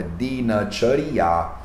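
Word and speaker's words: दिनचर्या: Então, na palavra Dinacharya, você percebe que tem o D com o I, Di, o N, N, com o A, N, o Ch com o A, Ch, o R é mudo, né? E a gente vai estudar isso em breve. E o Ya com o A e A. Então é Dinacharya.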